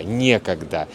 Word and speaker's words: некогда: Вы, может быть, знаете такие слова: некогда, негде, некуда и так далее. Ударение обычно падает на е. Некогда, негде, не с кем, незачем.